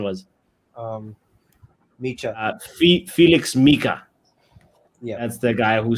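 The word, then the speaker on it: Nmecha: mck I forgot what what you said his pronunciation was um MAA Felix maika yeah that's the guy who scored and yeah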